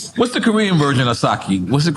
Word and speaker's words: sake: Yeah, sake, right?